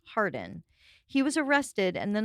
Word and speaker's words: Harwarden: using an alias and his true name is thomas harwarden h-a-r-w-a-r-d-e-n pronounced hardin he was arrested and